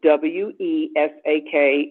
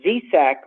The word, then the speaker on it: Vesak: the May full moon with the festival of W-E-S-A-K, and some cultures spell it with V as in victory, Z-E-S as in sweet or soul, A-K as in kind. Vesak or Wesak is the festival of honoring the